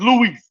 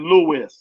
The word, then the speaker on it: Louis: Son of God cause you don't pronounce my name like that I'm not Spanish that's Luis I'm not Spanish my name is Louis not Louise you know what I